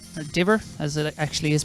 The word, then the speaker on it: Diver: a few irish over there as well sinead dover or diver as it actually is pronounced be obviously running for australia these days